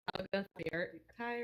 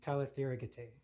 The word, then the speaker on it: Talitheragate: It's not Talaga Kai or whatever. It's Talitheragate. Oh.